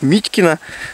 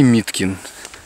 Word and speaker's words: Миткин: то есть хочется русскому человеку сказать Митькино, но мягкий знак утерян, потому что названы эти рудники как когда-то, а сейчас озера, в честь управляющего. А он немец, по фамилии Миткин. Поэтому вот такое интересное произношение.